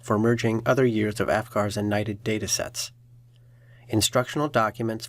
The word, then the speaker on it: AFCARS: AFCARS, pronounced AFGARS, is the Adoption and Foster Care Analysis and Reporting System.